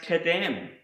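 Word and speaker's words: קדם: The next word I want to show you is pronounced kadem, and this is the Hebrew word for east.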